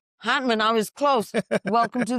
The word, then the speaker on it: Hantman: Well, today I have the pleasure of having Aaron and I'm going to say your last name wrong. Hartman. Hman. Hman.